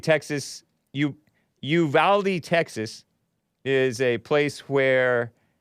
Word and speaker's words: Uvalde: very much and then i was calling it uvalde or ubalde ubalde texas it's like a border